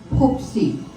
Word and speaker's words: Poopsie: Stewie, known as Stuart, and Poopsie.